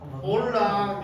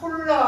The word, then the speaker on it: Hola: 자, 올라 요거 그 홀라 하시면 안 돼요. 홀라. 올라. 아, 올라. 유럽 말에서는 영어 빼고 H 소리 안 나요.